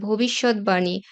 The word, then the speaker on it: ভবিষ্যৎবাণী: আবার ভবিষ্যৎবাণী বা উদ্বেল এখানে ব ফলার উচ্চারণ অবিকৃত থাকবে, দ্বিত্ব হবে না।